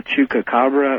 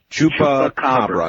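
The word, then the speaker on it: chupacabra: about about that what is it called the chuka cababra or it is my mission in life to get people to pronounce that correctly. Uh so follow me. Chupa chupa. Chupa cababra.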